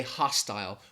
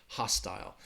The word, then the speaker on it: hostile: I think also people in America might say hostile, which I think is what they would say in British English. And in that case, you are going to hear that long I sound in that second syllable, hostile, hostile. In the United States, they might say both hostile or hostile, but in British English, you would hear hostile.